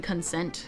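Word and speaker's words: Concent: It was when I was also thinking of covering Consent as well.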